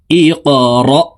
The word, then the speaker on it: اقرأ: ইকরা বিসমি। কফ কলকলার হরফ, উপরের দিকে ধাবিত করে ধাক্কা দিয়ে উচ্চারণ করতে হবে।